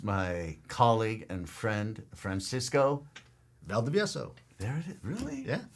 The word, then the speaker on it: Valdivieso: You know, when I say phonetic, Spanish, which is what it is Spanish is a phonetic language, meaning if you write it, you can pretty much pronounce it the way it's written.